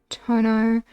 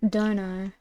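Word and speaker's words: 殿: Do we think I can do it from tono pronounced dono when attached to a name roughly means lord or master.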